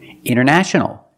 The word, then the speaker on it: international: You have NT in the middle, the T is silent. Other examples, internet. Internet or internet. International. International or international.